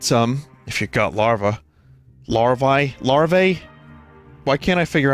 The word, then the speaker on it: larvae: Larvae? Larvae? Why can't I figure out how to pronounce that?